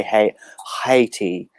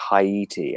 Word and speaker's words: Haiti: even say is it Americans who say hey heti and we say like Haiti I don't even know